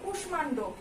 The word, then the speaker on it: কুষ্মাণ্ড: এবং কুষ্মাণ্ড, এখানেও কিন্তু আমরা যে দন্ত স্বয়ের সঙ্গে ম আছে সেটার উচ্চারণটা ঠিক রাখছি এবং ভেঙে ভেঙে উচ্চারণ করছি।